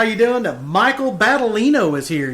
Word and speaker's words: Battaglino: Michael Battaglino is here. You said the G is silent.